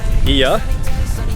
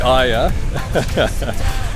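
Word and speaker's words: Oia: But I was talking to a Greek girl this morning who helped me to pronounce Iya, which I've been calling Aya, and it's actually spelled O-I-A.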